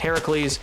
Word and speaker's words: Heracles: Heracles as Hercules but in Greek he's it's technically pronounced Heracles uh and it's the